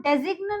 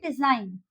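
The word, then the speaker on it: design: यहाँ पे हम डेजिग्न नहीं बोलेंगे। ओके, यहाँ पे हम बोलेंगे डिजाइन।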